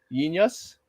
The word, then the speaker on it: Jeen-Yuhs: Well, it's spelled JEEN-YUHS. So Yin Yus.